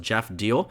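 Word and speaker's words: Geoff Diehl: Taking a look at the Republican primary here, I believe his name is pronounced Jeff Deal.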